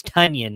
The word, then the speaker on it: Tonyan: if you pronoun it's tony and i forgot about that i'll i will say it right now that he's correct with everybody it's onion it's tonyan like funyuns that's the way he said